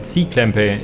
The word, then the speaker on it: cklempay: But yeah, the openers for cklempay, cklempay, it's normally pronounced.